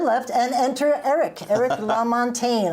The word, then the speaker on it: Lamontagne: and enter Eric everything la montagne I said it right you did I wrote it out